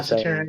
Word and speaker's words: Saturnian: people of a certain type, especially like the Saturnian? Is that how you say it? Yeah, Saturnian, Saturn.